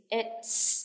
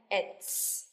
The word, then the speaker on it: it's: Nhưng mà đối với it is, it's, chúng ta đọc ra âm S chứ không phải là Z. It's.